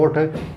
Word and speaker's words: ओठ: जबकि हम बोलने में होठ बोलते हैं, तो वास्तव में एक्चुअल में सही उच्चारण तो होता है ओठ।